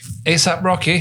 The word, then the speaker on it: ASAP Rocky: So, do you pronounce him ASAP Rocky? ASAP Rocky.